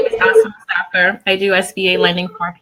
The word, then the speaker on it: Asumahu Mustapher: Her name is Asumahu Mustapher. Did I pronounce that correctly, folks?